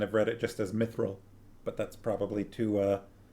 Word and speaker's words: mithril: which the elves called mithril mithril mathrill i feel like i remember in the films i'm saying like mithril or something like that they put kind of a an e sound in it i've always kind of